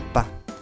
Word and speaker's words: pas: Y después del verbo hay que agregar pa. Pa se escribe con una s al final que no se pronuncia.